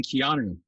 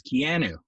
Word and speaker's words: Keanu: him so long that he wasn't even keanu when when when i first met him he was kianu and i'll tell you why this was because nobody knew it was an exotic hawaiian pronunciation it was and he never he wasn't the type of guy who would correct you right so to all of us canadians we had him rhyming with a piano basically right right and